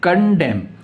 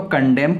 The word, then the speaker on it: condemn: उसके बाद में नेक्स्ट जो वर्ड हमारे पास में है कंडेम, CONDEMN, कंडेम, ठीक है। इसमें जो लास्ट वाला एन है वो आपका साइलेंट रहता है, तो कंडेम।